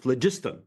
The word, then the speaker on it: phlogiston: due, I believe it's phlogiston. Jane Bambauer: Phlogiston, okay, so- Eugene Volokh: No, no, no, I think it's pronounced phlogiston, but there's no r.